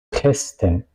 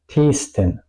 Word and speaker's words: testen: La sílaba finaliza en la S. Por eso la T suena corta. Testen. Yo no digo testen, digo testen. ¿Ok? La E es corta.